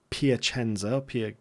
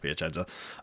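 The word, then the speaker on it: Piacenza: last game against uh piachenzo piachenza I think it's pronounced piachenza uh we lost Anastasio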